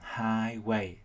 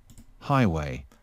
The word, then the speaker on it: highway: Nhưng mà từ này các bạn vẫn phải chú ý cho mình trọng âm nhấn vào âm đầu tiên, đặt thành highway, đường cao tốc. Highway.